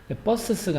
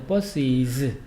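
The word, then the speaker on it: buses: 영어에는 s도 강한 발음, s도 강한 발음 두 개가 충돌할 때는요, 그걸 피하려고 마지막 강한 발음 앞에 알파벳 E를 넣으면 마지막 강한 발음이 죽게 됩니다. 버스스가 아니고 버스이즈.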